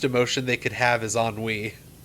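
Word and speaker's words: ennui: they could have is on Wei now at the time I was a child so I pronounced it like anui cuz I was you know I was baby you don't want your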